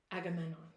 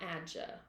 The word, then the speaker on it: Agamemnon: Agamemnon. Okay. Yes, that is correct. Not Adja.